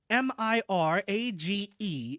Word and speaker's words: mirage: added Mirage and marriage m i r a g e is pronounced Mirage said valency shortly picking